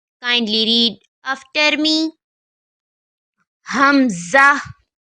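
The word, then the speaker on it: همزة: to pronounce this is hamza kindly read after me hamza hamza comes from the back of the throat to pronounce hamza kindly read after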